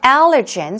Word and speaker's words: allergen: watery noses runny nose what about allergen stress goes on the first syllable irritants dander or pollen